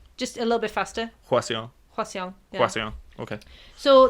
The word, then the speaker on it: Hwaseong: It's actually it's how you look at it. To be honest. Oh, really? So it's Hwaseong. Hwaseong. Yeah. Okay. Just a little bit faster. Hwaseong.